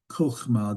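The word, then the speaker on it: חכמה: I am, and then it's actually kochma, that is the accent is on the last syllable. The first syllable is closed, unaccented. We looked at that last time. That means it's an O vowel.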